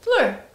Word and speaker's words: Fleur: Fleur.